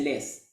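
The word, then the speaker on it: loess: Se escribe LOES, se dice LES.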